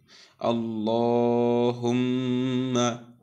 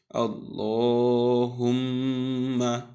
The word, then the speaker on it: আল্লাহুম্মা: মিমে তাসদিদ আমরা জানি নুনে কিংবা মিমে তাসদিদ হলে এই নুন মিমের তাসদিদ উচ্চারণের সময় যে থামার জায়গাটা আছে যে আমরা প্রথমে সাকিন তারপরে হরকত দিয়ে উচ্চারণ করি এই সাকিন করার সময় গুন্না করতে হবে এজন্য আমরা বলছি হুমমা তাহলে আমি পড়ি আমরা